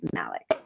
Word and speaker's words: Malik: I mispronounced his name originally. It's Malik.